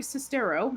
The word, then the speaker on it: Sestero: it is the rooms Tommy was sewing Greg Sestero that's how you pronounce it traveled the galaxy in the animated